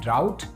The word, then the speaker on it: drought: अब ड्राउट क्या होता है? ड्राउट का स्पेलिंग होता है DROUGHT। तो DROUGHT ड्राउट और DRAUGHT draft, draft and draft.